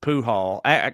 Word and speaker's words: Pujol: misconception about lapetamine his real name was Joseph pool hall pool hall actually that's so funny yeah I didn't even read it because it's spelled just like Albert Pujols you know or